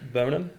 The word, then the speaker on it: Birmingham: So what's the correct pronunciation? Birmingham. I think that was. I think just the H.